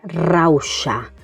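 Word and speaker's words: rauxa: Después tenemos la palabra rausha con este sonido de la X. Rausa rausha es lo contrario a se es eh impulsividad. Y fíjate en el sonido de la X, eh, rausha, sonido que también vamos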